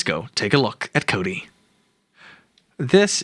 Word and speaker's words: Kodi: Roku box let's go take a look at Cody this right here is Cody and it is spelled k o di I and you can